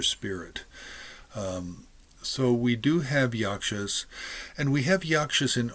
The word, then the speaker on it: Yaksas: is a particular book and it's called uh yakshas it's by Anand kumara Swami I think it